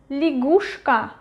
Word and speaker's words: лягушка: And the last one, лягушка, Лягушка. Лягушка. Лягушка. Stress is going to U. Ya is not stressed. It is pronounced as E.